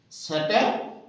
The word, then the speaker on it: Saturday: Saturday R here is silent. So Saturday. R also here is silent.